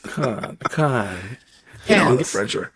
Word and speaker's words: Cannes: Dude, it's actually Can, Alex. It's Can. Very French. The S is silent. Can.